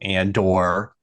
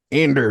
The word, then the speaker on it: Andor: Andor. I didn't say Andor. Yeah, you did. No, I said it more like Stellan Skarsgård says it, which is just flat. Just Andor, not Andor, or Andor and not Andor.